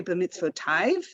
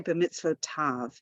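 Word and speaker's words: בְּמִצְוֺתָיו: for that is bemitzvotav we don't say the mitzvotive in her blessings right we say bemisphotav the way to think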